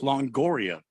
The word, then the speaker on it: Longoria: I'm pretty sure I'm pronouncing it right, Randy. No, it's Longoria.